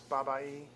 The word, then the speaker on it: 881: that for a while in chinese eight is pronounced ba and one is pronounced e so when you put it together it's babae so it's like saying